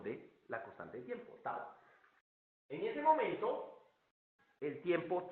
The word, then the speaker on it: tau: la constante de tiempo, pues así se pronuncia esa letra griega, tau, ¿sí?